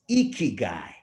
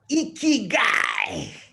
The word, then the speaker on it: ikigai: we also know we're all about but it's icky guy and the best way to pronounce it is to make your puffy cheeks your chiefs cheeks puffy with a big big smile and shout out icky guy so i'd like everyone out there to uh